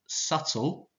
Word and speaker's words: subtle: got nervous midnight and subtle you don't pronounce that b then on the bottom